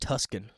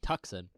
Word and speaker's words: Tucson: See, look how you'd be pronounced Tuscan. Tucson. No, it'd be Tucson because it's T-U-C-S. Is it? Yeah. I thought it was T-S-C-O-N. T-U-S-C-O-N. Okay. I don't know. Unless I did it backwards. Oh, no, Tucson makes sense. The C is silent?